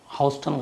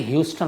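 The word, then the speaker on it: Houston: लिखा था अमेरिका से कि मैं हाउस्टन गलत बोलता हूँ, तो मुझे खैर सुप्रतिम बनर्जी ने भी बताया और विकास गुप्ता जी ने बड़े अच्छे से समझाया प्रोनाउंसिएशन को। Thank you so much. इन्होंने बताया कि ह्यूस्टन होता है वो, और एक और भी इन्होंने अच्छी जानकारी दी।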